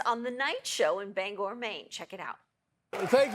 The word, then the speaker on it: Bangor: There's a certain sensitivity about how you pronounce the name of this city. Yeah, it's Bangor. All right, Bangor.